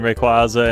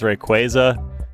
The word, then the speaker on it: Rayquaza: But you know what, since I grabbed so many rare candies as well, and again, Rayquaza and Xerneas are both pretty high level.